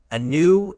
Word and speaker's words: anew: Anew is an adverb. It's pronounced new with the stress on the second syllable.